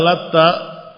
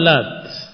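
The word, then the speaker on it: اللات: Faammal lat. Adapun lat faqar al jumhur bitakhfif ta. Jumhur para qura yang meriwayatkan bacaan-bacaan Al-Qur'an membacanya dengan takfif tanpa tasdid ta.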